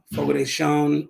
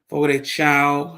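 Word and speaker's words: Fogo de Chão: days guys came just got home from uh Fogo de shown or Fogo de Chao however you like to pronounce it with my wife I had a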